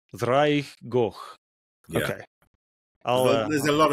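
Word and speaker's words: Ddraig Goch: Ddrwg Goch. Ddrwg Goch. Yeah. Okay. There's a lot of two D's going on in the Welsh language. Yeah, and that's pronounced almost like a voiced TH.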